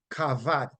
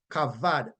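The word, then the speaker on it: כבד: b a d and it is pronounce cavad cavad or Cav Cav meaning to be heavy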